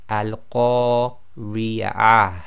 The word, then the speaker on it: القارعة: So we just pretend that ta marbuta is a ha and it's sakin, so you get a slight ha sound at the end of the previous sound.